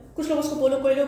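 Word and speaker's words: Paulo Coelho: पोलो कोएलो की कुछ लोग उसको पोलो कोएलो कहते हैं, probably पोलो कोएलो इज़ the more appropriate word, but मेरी जो है ना प्रोनाउंसिएशन कुछ ऐसी है कि मैं कहती हूँ कि यार पोलो कोलो, वो बस एक फ्लो में गुजर जाता है।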